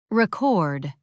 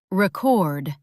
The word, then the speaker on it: record: Record, noun, the thing. Record, verb, the action. Same letters, different stress, different meanings.